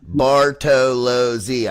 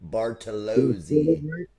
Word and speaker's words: Bartolozzi: So mine is Bartolozzi. I got 4. Tolazzi. Bartolozzi.